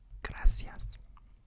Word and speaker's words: gracias: And then next we have gracias. Gracas. Gracias. Gracias. Gracias. Gracias, you know, and they pronounce this differently in Spain versus the Spanish in South America.